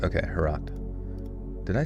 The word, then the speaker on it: Herat: Okay, so wait, it rhymes with a lot or forgot. Okay, Harat.